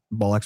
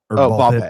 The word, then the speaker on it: Ball x Pit: Ball X or ball pit, whatever you want to call it. I don't know if they pronounce the X or not, but you don't.